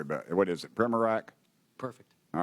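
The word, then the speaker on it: Primorac: What is it, Primorak?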